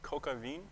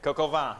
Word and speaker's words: coq au vin: What is coca vin? I'll take it. Coq au vin.